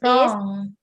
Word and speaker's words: wrong: And number 6 is wrong. You know, not wrong. No, it's W is silent.